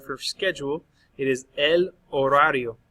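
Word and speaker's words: horario: schedule it is El orario notice I'm not pronouncing the H you've seen a lot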